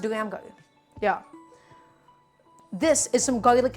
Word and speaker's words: Daramgar: be a nice sweet delicious bite uh it's pronounced duramar yeah this is some garlic and ginger not